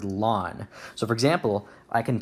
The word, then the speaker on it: ln: don't pronounce it Ln a lot of times you're gonna see it pronounced as the word lon so for example I